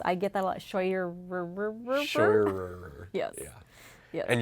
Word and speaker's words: Scheurer: Scheurer. Scheurer. Why is there an R in the middle of your last name? Those The R is silent? crazy Germans decided that there needed to be a few extra letters in there.